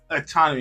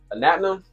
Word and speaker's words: Anatnom: So, describe describe autonomy if I'm saying it right, man. Describe your brand. What What is What is your brand? Anatum. Anatom.